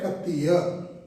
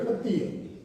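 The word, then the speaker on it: खत्तिय: में मिलता है, और उसका प्रोनाउंसिएशन है खत्तीय। क्षत्रिय नहीं, खत्तीय।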